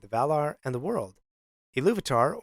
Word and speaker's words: Ilúvatar: Ilúvatar, or to pronounce it another way, Ilúvatar, meaning father of all.